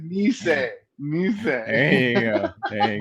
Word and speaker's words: Nisei: have JY numeral 2 Nisei. No, you're close, but I would have said Nisei.